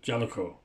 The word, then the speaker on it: JALECO: That's how you pronounce it, JALECO.